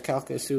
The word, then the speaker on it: Calcasieu: and Port Arthur, and the low-lying Calcasieu, yes, Calcasieu is how you pronounce it, and Cameron parishes in southwestern Louisiana, where forecasters said storm surge topped by waves could submerge entire towns.